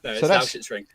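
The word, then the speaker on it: Lausitzring: No, it's Lauschitz-Ring.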